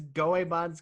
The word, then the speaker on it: Goemon: Tony Hawk Pro Skater 2 versus Goemon's Great Adventure. So Goemon still rhymes with Digimon, and I really like Digimon a lot.